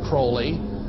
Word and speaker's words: Crowley: about was aliser Crawley he likes to have his name pronounced Crowley to rhyme with holy and uh the Satanist